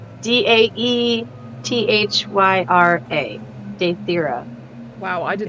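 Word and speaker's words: Daethyra: name again for me Kaylee yep it's d-a-e-t-h-y-r-a date thira wow I did not spell that right at all yay I've got a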